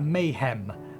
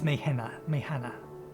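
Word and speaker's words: Meyhane: I want to pronounce that Mayhem, but it's Mayhana.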